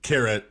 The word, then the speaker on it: Keret: Well, Keret or Kirta, if you want to be.